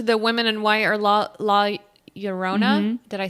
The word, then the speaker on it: La Llorona: So just mosey on over to the Women in White or La Llorona. Did I say it right? Yeah, you did. Or La Llorona.